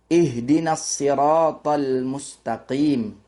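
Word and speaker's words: اهدنا الصراط المستقيم: Jadi jumhur ulama itu memakai membacanya dengan huruf shad ya. Ada pula shad itu diganti huruf zai ya. Jadi zhur ulama kita kebanyakan bukan kebanyakan tapi masyarakat yang menganut paham riwayat Imam Hafim itu kita membacanya dengan shad, yaitu ihdinasirat mustaqim. Namun ada riwayat lain itu cara membacanya bukan shad tapi zai yaitu ihdinazzirathal mustaqim. Namun keduanya benar ya.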